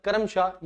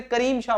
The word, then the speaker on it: करीम शाह: आपका बनेगा that is करम शाह इज द वैसे करीम शाह बोलते हैं ठीक है य प स्पेलिंग मिस्टेक भी हो सकता है करीम शाह जो है वो नाम आता है करम शाह नहीं ठीक है चलिए उड़ीसा